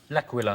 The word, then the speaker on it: L'Aquila: L'Aquila. Laka squawkalaka. I could never pronounce that word. That's okay. It is a night of bad Italian impersonation, so we'll let you in. But he went. It's called L'Aquila.